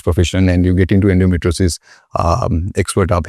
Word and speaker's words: endometriosis: The term is endometriosis, if I'm saying it correctly.